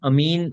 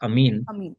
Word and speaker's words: Amin: Amin. So we pronounce this as Amin.